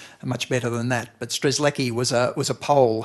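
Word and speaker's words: Strzelecki: name is stress less stress lucky at least that's how we say it in Australia you probably can pronounce it much more much better than that but stress Leckie was a was a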